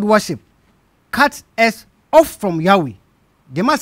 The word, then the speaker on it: Yahweh: the Christian Church testify that the name was pronounced Yahweh what's that called the encyclopedia Britannica volume 23